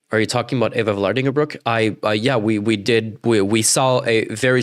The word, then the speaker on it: Vlardingerbroek: Or to this very country, where wait, it's Eva Vlardingerbroek, not Vlandarborek. Wait, is that a thing?